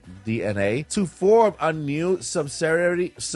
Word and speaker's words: DeNA: Nintendo has informed investors that they have partnered with DNA, okay, it's spelled Dena, like Dina or Dena, but it's actually DNA, to form a new subsidiary, sorry about that, in April of 2023, called Nintendo Systems.